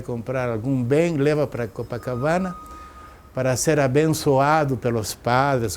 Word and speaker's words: Copacabana: à beira do lago, que a pronúncia certa é Copacabana, na tradução lugar onde se fazem rituais para o lago. E como os espanhóis não sabiam traduzir, se chama Copacabana.